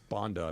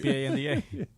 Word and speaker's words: Banda: Is it Bonda or Banda? Bonda, I believe. Just curious. Banda. I keep getting corrected. By who? How do you spell it? Banda. Thank you. B-A-N-D-A. Right, that says Banda.